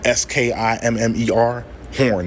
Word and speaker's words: Schermerhorn: Skimmer, like S-K-I-M-M-E-R. Horn, nigga. Skimmerhorn. That's it. Hoist Skimmerhorn. Straight like that. Any other way is not the New York way.